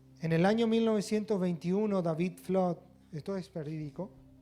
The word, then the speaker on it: Flood: testimonio de un matrimonio de apellido flot bien pronunciado sería flat él se llamaba david y ella se llamaba espía en el año 1921 david flood desperdicó y su joven